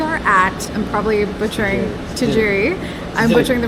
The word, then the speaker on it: Tsujiri: the freshest types of CA HOA matcha tees suii sui it's a the tea is silent um but uh yeah the matcha and